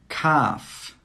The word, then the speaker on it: calf: Calf, calf. Could, could. Half, half. Walk, walk. Yoke, yoke. All of these words have a silent L.